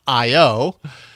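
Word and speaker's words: IYO: but it's spelled I YO, but apparently it's pronounced IO.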